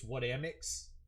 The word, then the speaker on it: xXWhatAmIXx: It's WhatAmIXx. Thank you. Why don't you pronounce the first X's?